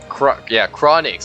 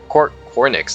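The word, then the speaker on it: Cornyx: Chronix. There you go. Cornix. There you go. That's how you say it.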